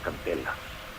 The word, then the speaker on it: Candelas: And they actually pronounced his name as Candelas, which was awesome to hear.